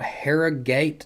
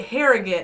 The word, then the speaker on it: Harrogate: i said i'm originally from a place called harrah gate tennessee and i understand there is a hara